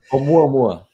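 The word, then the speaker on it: ʻOumuamua: Because you have all this science, you've studied the I still can't pronounce it. Please help me out. Oumuamua.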